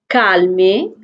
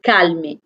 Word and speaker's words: calmer: এটা কিন্তু ইংলিশের মতোই ওয়ার্ডটা, কিন্তু ইংলিশে কিন্তু অ্যালটা সাইলেন্ট হয়, ওখানে আমরা বলি calm, কিন্তু ফ্রেঞ্চে অ্যালটা আমরা প্রোনাউন্স করি, সো এটা হবে calmer। casser casser কিছু ভাঙা।